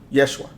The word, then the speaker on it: Yeshua: name of Jesus and Jesus is not how it's pronounced I don't know if people know that or people really studied that there's no letter J in the Hebrew language J does not exist Yeshua that's the name um and and just